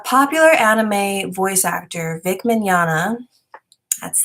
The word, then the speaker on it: Mignogna: the situation a popular anime voice actor vic Mignogna that's how you say his name fighters but